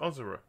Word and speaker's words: Asura: pronounced Asura.